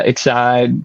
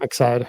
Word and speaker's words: Excide: Excide. Excide.